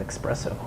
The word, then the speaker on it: espresso: the next checkpoint is espresso but don't they know there's not an x in it it's pronounced if y'all